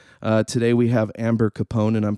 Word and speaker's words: Capone: do talk show uh today we have Amber Capone and I'm pronouncing that correctly please yes all right nice